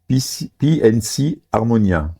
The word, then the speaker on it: P and C Armonia: Bonsoir, aujourd'hui nous recevons le groupe de DJ PNC Harmonia. C'est bien ça? C'est ça, J'ai bien prononcé.